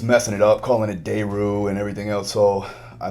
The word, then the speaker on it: Daru: Now, I have always pronounced your name Phil Daru. But then we did that podcast with Dolce. He was saying it Daru or something.